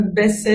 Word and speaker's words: baisser: n'a pas noté mais il ya une différence entre baiser mpc dans la prononciation importante ça veut dire mon pc par exemple baisser les rideaux la tête attention si vous venez à dire de baisse c'est quelque chose pas tout à fait la même chose surtout dont